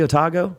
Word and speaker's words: Otago: the University of otago is that pronounced correctly otago that's good yeah and uh graduate degrees religious studies University of Toronto and Canada was uh teaching in otago also in King's College